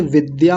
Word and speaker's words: विद्या: है ना विद्या तो बहुत सारे लोग क्या बोलते हैं विद्या ऐसा बोल देते हैं विद्या नहीं होता विद्या होता है विद्या तो इसको द्य बोलना है द्य क्या बोलना है द आधा है य पूरा है तो द्य ऐसा बोलना है अब यहां देख